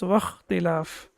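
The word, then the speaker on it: وَاخْتِلَاف: And when we have waw before it or any other letter, then it will be pronounced as wakhtilaf.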